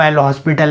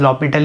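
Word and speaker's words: L'Hôpital: अब guys comment section में ये मत लिखना वो एल हॉस्पिटल है, क्योंकि उसकी प्रोनाउंसिएशन गाइस लॉपिटल ही होती है।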